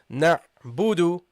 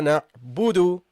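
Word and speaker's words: نَعْبُدُ: Okay, so you say here na budu. Iyyaka na'budu, Iyyaka na'budu. Okay? This is how you should pronounce it.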